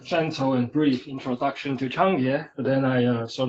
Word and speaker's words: Cangjie: And the most important things here is that it's pronounced as Chang with a a little bit of the TS sound. Definitely not KJ.